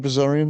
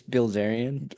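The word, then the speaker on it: Bilzerian: You didn't say his name right. I appreciate that. I don't even know how to say it. It's damn it's Bill Xarion.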